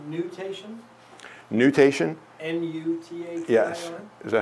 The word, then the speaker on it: nutation: I thought you were saying mutation.